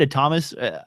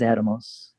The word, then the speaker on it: Atomos: I always say Atomus or a Thomas, but it's I don't know which one's the correct way to say it. If if I may. Uh, I don't like to correct you because you often know more than I do, but it's it is Atomos. Atomus.